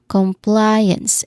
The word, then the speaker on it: compliance: Pronunciation wise the stress sound here is not on the first syllable anymore but on the second syllable. Compliance and apply that's there's um that's the primary stress here. There's a dip thong sound, right?